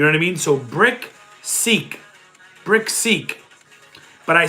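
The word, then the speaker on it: BrickSeek: It is Brick Seek. Like throw a brick, you build a house with bricks, brick, and then seek. like seek and destroy. You know what I mean? So brick seek.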